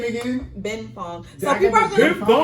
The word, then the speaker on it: Benfang: Ben Fong. So people are they're gonna pronounce it wrong the way it's spelled. I have it in all caps. It's BENFANG.